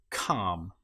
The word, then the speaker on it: calm: Another one that you might come across is when you have L M together. An example might be palm. In this case, the L you will notice is not pronounced at all. Palm or calm.